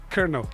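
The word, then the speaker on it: colonel: and just leave it this Colo kernel Kel Kel come from French as well yeah but people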